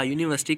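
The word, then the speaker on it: university: नहीं करना आप लोग यूनिवर्सिटी वर्ड को पहले पढ़ो कि शुरू कैसे हो रहा है यू यू साउंड से वाई यू और वाई यू यू साउंड एक कंसोनेंट साउंड है इस वजह से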